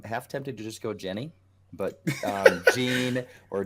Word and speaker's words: Jeanne: Google aka hua tell us how we pronounce this name so according if we go with the French pronunciation we're gonna go John Shai loaded the game in